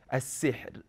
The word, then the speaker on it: السحر: But before we go to that, pay attention to the correct way of pronouncing this ra and making it light when you are stopping on it in this example I've given. As-sihr.